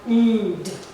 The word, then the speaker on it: cleaned: Here we have the called, cleaned, offered, damaged, loved, used, followed, enjoyed. So that is for the d pronunciation of ed sound.